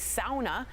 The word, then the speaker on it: sauna: She says his recovery routine includes sitting in his sauna. I know it's sauna, but I like to pronounce it that way.